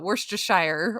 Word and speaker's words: Worcestershire: Yes, he gave me a whole lesson because we call it Worcestershire, or some of us don't know True. how to say it. Yeah, I say Worcestershire.